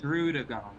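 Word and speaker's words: Druddigon: So the pronunciation is Drudigon.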